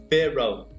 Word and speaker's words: feral: Então, a pronúncia de feral é feral, né? Então, feral, né? Então, essa é a pronúncia correta de feral, ok?